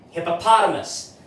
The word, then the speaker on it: hippopotamus: have hippopotamus right but let's not forget the stresses because that also defines the pronunciation of the word so he has the secondary stress so let's make it hit and then the third syllable pa has the major stress so it has to be the longest loudest and hardest of them all so this is pronounced now let's say fast or straight hippopotamus so that's how you pronounce this word correctly there you go